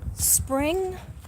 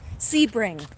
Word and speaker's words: Sebring: Muse News, you're from Spring, Florida? Wait, I'm saying it wrong. Sebring, right? Sebring, Florida. And you were okay and your house was okay?